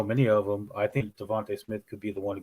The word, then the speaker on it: DeVonta Smith: hurts person I'm gambling on we're gonna be Devonte Smith Devonta Smith sorry say his name why well if they